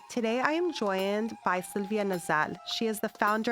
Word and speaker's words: Sylwia: Because it's it's Sylvia with a it's just written with a W.